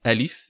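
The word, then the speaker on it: ألف: Donc on dit alif, il n'y a pas de prolongation phonétiquement dans alif, qu'on retrouve par exemple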